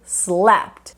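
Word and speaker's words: slept: em PT slap SW e repara porque eu não falei capt slap não tem I nem depois do P nem depois do T slapt capt weap ó Então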